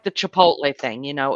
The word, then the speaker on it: Chipotle: chip to it's not chip tole you've said all kind of stuff Chipotle it's not Chipotle now no it's Chipotle Chipotle the way you're saying it has the T before the P look at it oh